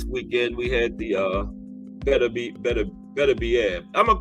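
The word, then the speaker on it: Beterbiev: going to call him Arthur better be that's what the ring announcer called it right and you know they got it right because they probably asked him or one of his people had to pronounce always thought it was berad no that's what he said better bead okay but he got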